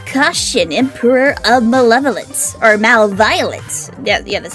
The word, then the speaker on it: MalViolence: After all, I'm the great caution emperor of malevolence, or MalViolence. Yeah, that's how it's pronounced here.